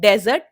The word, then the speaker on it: desert: इस वर्ड के भी दो प्रोनाउंसिएशन होते हैं, डेजर्ट और डिजर्ट, लेकिन दोनों का मतलब डिफरेंट है.